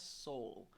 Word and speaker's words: Sowell: I've been saying his name wrong. Y'all finally told me. Sowell. Thomas Sowell.